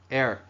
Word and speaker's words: heirs: 여기 지금 저기 봐 교과서 갖고 계신 분들 H-E-I-R-S H-E-I-R-S 발음해 보세요. Air Hair가 아니에요. Air H 묵음입니다.